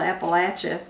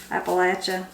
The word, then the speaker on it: Appalachia: He said that's why it's called Appalachia. Appalachia. That's people say that's how you how you know how to say it is throw an apple at you.